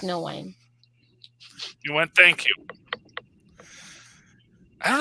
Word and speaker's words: Nguyen: I get the feeling like this kid Nagoon is the guy running the whole show.